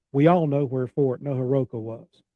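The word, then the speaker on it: Neoheroka: Okay, very good. Naharug is how we say it. But that's that's extremely good for me. Neoher. Neaharuga.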